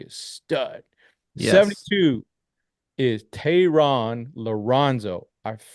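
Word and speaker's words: Thayron Liranzo: 72 is Tehran Lorenzo.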